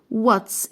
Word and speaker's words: what's: الدبليو تقول للاتش اسكتي، فمش هنطق الاتش ساوند، فهقول واتس.